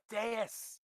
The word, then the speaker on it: Deus: It's pronounced Deus.